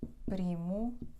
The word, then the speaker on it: primo: aí e vamos para alguns exemplos as palavras dissílabas carta Oi gato Oi primo é falso bom então carta última penúltima o